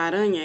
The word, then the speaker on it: aranha: é fraco e o som do r quando tem dois é forte leia em voz alta